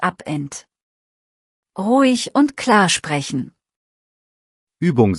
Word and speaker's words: Abend: Abend hat ein weiches E, nicht Abend.